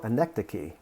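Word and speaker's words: anecdoche: far as i know anecdocy although it looks for all the world like anecdotes and what it means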